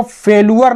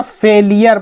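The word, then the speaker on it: failure: यदि एक छोटी मकड़ी कैन फेस, सामना कर सकती है, फेलियर, इसको फेलुअर नहीं पढ़ेंगे ना, फेलियर पढ़ेंगे, इसका जो प्रोनाउंसिएशन है फेलियर, फेलियर।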